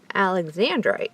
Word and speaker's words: alexandrite: How do you pronounce it? Alexandrite.